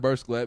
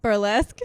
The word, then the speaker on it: Burlesque: You watch that Burst Glatt movie? Burlesque.